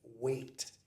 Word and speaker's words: Waite: This is what is known as a Smith weight tarot deck and weight is spelled w ai t.